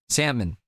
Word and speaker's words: salmon: Salmon. Salmon. You don't pronounce the L really.